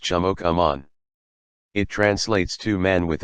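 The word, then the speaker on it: chimookomaan: other states the word for white person is pronounced jamok Amon it translates to man with a knife because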